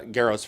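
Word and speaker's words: Gero: But for what it is, um, it's Martin's uh, Grow's first script. Yes. Go. It's spelled G E R Gro. Like Gro, like Gro. Yes, it's Grow.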